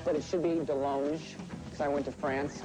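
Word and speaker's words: DeLonge: I am Tom Dong, but it should be Del Long cuz I went to France and he said, "You're pronouncing it wrong."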